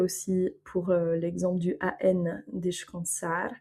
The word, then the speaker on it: descansar: On va avoir par exemple aussi, pour l'exemple du AN, descansar, donc on va prononcer quand et pas can, c'est pas descansar. On referme pas la langue devant pour faire le N.